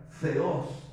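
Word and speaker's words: θεός: palabra biología la raíz la palabra Teo es la palabra Dios en el idioma griego que se pronuncia feos entero cuando hablamos de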